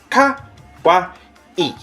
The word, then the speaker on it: kawaii: saying this word wrong it is not pronounced Kawai it is pronounced Kawa e make sure you get